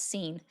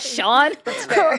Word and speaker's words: Sean: I knew I used to mispronounce Sean when it's spelled Sean because I'm like, that's Scene. Like, I don't give a fuck how you say it. It's Scene. That's not Sean. Where's the H? Where's the W? That doesn't make any sense.